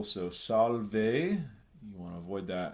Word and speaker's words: salve: One note on those, the ending, you want to avoid diphthongs as usual. So salve, you want to avoid that and just pronounce it as salve.